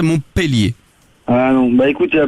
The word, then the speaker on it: Montpellier: la véritable appellation de on dit Montpellier avec un e mais que ça se prononcerait Montpélier.